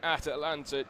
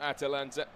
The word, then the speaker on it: Atlanta: And we are back underway for the second half here in Atlanta, Georgia. I should say it's Atlanta, Georgia, not Atalanta. Poor pronunciation from myself there, but I'll run you through the teams of Spain.